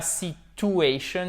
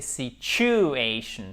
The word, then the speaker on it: situation: Et ce n'est pas situation, c'est situation. Ch. Ici, on a un ch. OK? Situation. Asian. Et vous avez votre accent tonique qui est là, qui est comme ceci en phonétique.